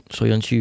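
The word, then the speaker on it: Söyüncü: The guy, I can never pronounce his name. You have to help me. Is it Soyuncu, the Turkish? Soyuncu, yeah.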